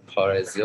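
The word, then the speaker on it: Parrhesia: بند انیمالز از لیدرز آلبوم پارزیا بکنم تلفظ میشه که میگم مثل همیشه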